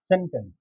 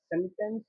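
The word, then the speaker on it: sentence: तो आगे चलते हैं गाइस, सेंटेंस, जिसको कि अमेरिकन इंग्लिश में सेंटेंस ना कहकर सेंटेंस बोला जाता है और इसका टी साइलेंट हो जाता है।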